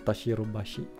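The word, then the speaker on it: 田代橋: Pag dinugtong mo yung hashi, ang pronunciation na magiging tashirubashi.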